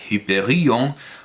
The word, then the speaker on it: Hyperion: Tampoco se olvida de ellos Friedrich Hölderlin en Hyperion o der Eremit in Griechenland, Hyperion o el eremita en Grecia, en alemán se pronuncia Hyperion, o der Eremit in